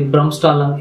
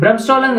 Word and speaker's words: Bremsstrahlung: me tell about the brahmstalung interaction and bremstalling is a german pronunciation that means that breaking